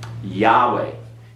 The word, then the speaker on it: Yahweh: over here to Eric Yahweh you do not pronounce the vowels that are there those vowels are artificially